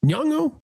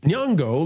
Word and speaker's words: Nyong'o: alleging the director cast Lupita, how do we pronounce her name? Nyong'o? Nyong'o.